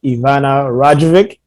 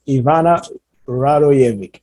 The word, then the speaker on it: Ivana Radojevic: e-commerce and i have the pleasure to have ivana rajavik so i hope i'm pronouncing the name right it's close rhetoric but how do you say it okay sorry ivana ivana radoyevik right that's right yeah okay and uh yeah